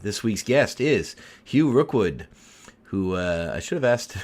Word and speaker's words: Rookwood: to another episode this week's guest is Hugh Rookwood who uh I have asked when I spoke with him how to properly pronounce his last name I thought it was Rockwood for a very long time until a year